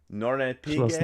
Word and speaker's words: Schloss Nornepygge: Tom, pronounce it for me. Schloss Nornepygge.